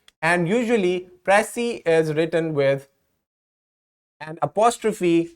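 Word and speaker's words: précis: where does the word pressy comes from notice that the S is silent and usually pressy is written with an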